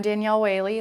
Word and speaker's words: Danielle Whaley: uh last first name last name how to spell it and then what you're involved in like this 54 Film Fest okay I'm Danielle wayy that's d a n i i e l